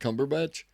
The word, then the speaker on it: Cumberbatch: going to vote for our heard his name pronounced that way. Benedict Cumberbatch.